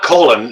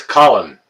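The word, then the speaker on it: Colan: not gonna call you Colin Colin it's not colon It's Colin it's spelled c o l a n it's pronounce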